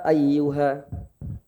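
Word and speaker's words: أَيُّ: Kemudian catatan yang selanjutnya ayyu, lafaz ayyu. Jadi itu kan ada tasydid Bapak ya, itu ditekan ayyu. Jadi enggak datar, enggak monoton, enggak datar bahasanya, enggak qul ya ayyuha, harus ada tekanan. Qul ya ayyuha, ayyuha seperti itu.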